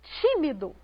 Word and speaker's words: tímido: A primeira palavra que está aqui no nosso quadro é a palavra tímido. Veja só, tímido. A sílaba pronunciada com mais ênfase foi o ti.